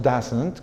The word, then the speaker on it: doesn't: Pero la forma corta, doesn't, así la pronunciamos, doesn't, con una A prácticamente abierta, esa es la pronunciación correcta de la forma corta, ¿ok?